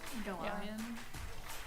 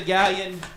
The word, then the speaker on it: Galion: it might People could be mispronounce Galion. Bueller. Yeah. Galion. I've Gallon.